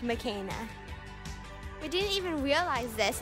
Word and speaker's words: Makena: My doll's name is actually pronounced Makena.